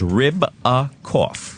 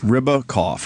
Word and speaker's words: Ribakoff: It's just like it sounds. Ribakoff. Ribakoff. Okay. Like ribs with a cough.